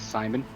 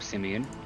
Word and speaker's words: Simon: My character is Simon, or if you really want to be mean, you can call him Simeon, as it might look the way that it's spelled. Did that once.